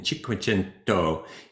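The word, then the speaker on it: Cinquecento: Welcome to chapter 22 on the Renaissance and mannerism in Chikuento, Italy. And that is how it's pronounced. It really sounds like you're speaking Italian when you say it.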